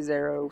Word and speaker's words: Xero: bike actually that has zero on it i don't know if you say zero in the game but i'm gonna say zero so if you watch this video call it zero with me hope everyone else learn